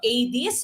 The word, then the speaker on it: Aedes: mosquitoes that would be your aedes mosquitos now Adis is spelled a-e-d-e-s okay so a this mosquito foreign